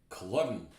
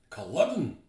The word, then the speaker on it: Culloden: So, most Scots pronounce it Culloden. Culloden.